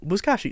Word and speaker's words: Buzkashi: Buzkashi, that's how it's pronounced.